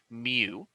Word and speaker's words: mu: The mean, which is represented by this Greek letter mu, that's the Greek letter of a U, is pronounced mu.